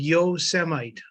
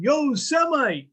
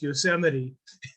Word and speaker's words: Yosemite: a construction site and this guy saw him yo semi because a certain past president I didn't know how to didn't know how to pronounce Yosemite so yeah a cultural experience there in New